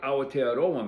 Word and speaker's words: Aotearoa: So what Aotearoa means, and you have to pronounce every vowel, and that and other Polynesian languages, means land of the long white cloud.